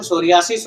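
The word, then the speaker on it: psoriasis: अब देखो सोरियासिस हो, अच्छा है, ये लास्ट के तीनों वर्ड देखो, साइकोलॉजी, सोरियासिस और साइकियाट्री, इनमें से क्या है? ये पी, हर जगह पी क्या है? साइलेंट है भाई, पी साइलेंट है।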